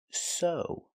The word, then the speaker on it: sew: This word is pronounced so. The e w makes the long o sound like no and grow.